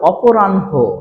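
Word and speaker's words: অপরাহ্ণ: এই যে দেখো হ তাহলে উচ্চারণটা কেমন হয়ে গেল অপরানহ কি বলবো অপরানহ নেক্সট আমরা দেখি যে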